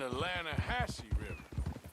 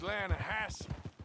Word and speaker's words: Lattahatchee: near here yeah but it's pronounced laying a house why is everything in English said differently than it's written make us feel stupid